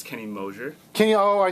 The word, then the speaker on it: Moser: doing in two days how' you meet Kenny Moser and um what yeah how's that relationship like as a when it comes to the music business sure first of all it's Kenny moer Kenny oh I said it wrong Kenny moer